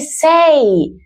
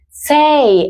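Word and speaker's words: said: Decir se dice say. Say en pasado. Sa. Como cuando tienes set.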